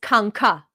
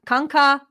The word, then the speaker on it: kanka: Okay, first word is kanka. Okay? Buddy, dude. Kanka. You can say it like that. Kanka, like that.